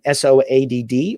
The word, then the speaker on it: Soad: pronounce it correctly, then SOADD or SO-ADD, both of those would work for me. I would be likely, when I saw it, to say so-ad.